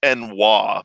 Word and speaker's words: ennui: It's pronounced "enwa," but that's not what I'm ever going to say.